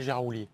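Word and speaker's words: Gérard Houllier: mie jououlier gérardou il bien qu'on l'appelle Gérard oulier oui exactement et en plus ça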